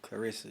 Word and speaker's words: Claressa: We going to get to Papusen, how you pronounce her name? Clarissa.